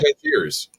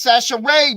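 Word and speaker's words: Chachere's: That says Cashiers. Huh? It says Cashiers. No, that's Sachet, man. You got to say it like you a Cajun.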